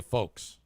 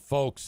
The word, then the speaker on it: folks: I meant to say folks. I said the word folks and pronounced the L.